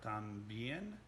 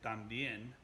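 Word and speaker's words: también: word tambien and tampoco so it starts out sounds like the word tom so if we're looking at someone's name and the name tom just got to shorten a little bit and say thumb instead of tom just remember that a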